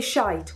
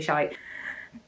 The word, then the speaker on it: shit: Because somebody asked me, do we say shit or do we say shite? Well, it's shit, but you can also say shite.